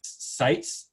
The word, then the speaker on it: Seitz: I think, if I remember rightly, Ray Seitz. Is that pronounced right, Kathleen?